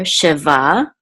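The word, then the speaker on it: שבע: which says va, and this ayin is silent, so this is just va together, sheva. And this number means, or this word means the number 7, sheva. And this curly thing right here is the trope mark, and so we know that the accent is on the last syllable, sheva.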